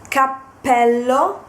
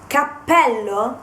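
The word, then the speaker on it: cappello: sound of the consonant then another example is Capello and Capello Capello means hat while Capello with one p is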